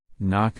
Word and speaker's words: knock: t did you Circle G H number six knock knock k n o c k did you